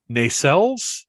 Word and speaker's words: nacelles: And I'm looking now, and there are some pictures where because in my brain, the nacelles, is that the correct pronunciation?